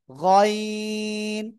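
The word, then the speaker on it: غين: গাইন গাইন না গাইন গলার শেষ ভাগ থেকে উচ্চারণ হবেন সবাই জোরে জোরে উচ্চারণ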